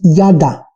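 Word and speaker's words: yada: pero la palabra original en el hebreo es nada nada se escribe y a guión de ha hecho h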